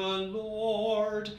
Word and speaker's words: Lord: Make sure that you don't pronounce the R in the middle of Lord. So it isn't may the Lord, it's may the Lord show his mercy. And at the end of